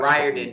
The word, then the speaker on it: Riordan: Um in the last Riordan just because it's a long time to figure out that it rhymes with fireman and that's how he tells people.